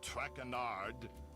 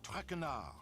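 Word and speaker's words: Traquard: As for my name, not Trackard. It is Traar.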